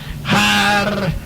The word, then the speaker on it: Harpócrates: Los místicos de los misterios de Eleusis pronunciaban aquel nombre en la siguiente forma: Harpócrates.